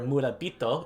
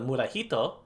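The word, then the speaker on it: 村人: muddles syllable yamada your murabito instead of murahito it's murabito because we know that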